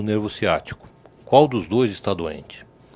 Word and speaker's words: ciático: A pronúncia certa do nervo é ciático com C de casa, como perguntam muitas vezes.